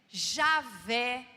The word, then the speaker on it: Javé: no meio dos cristãos pode se falar Jeová e aveh Javé todas essas palavras têm o mesmo significado significa eu sou e